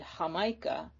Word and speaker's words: Jamaica: the word jamaica which the spanish would have um heard it and then said hamaika not quite sure what